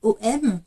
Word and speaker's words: AUM: avez les traditions yogi on va plutôt l'écrire à u m et le U se prononce plutôt ou pour comprendre un petit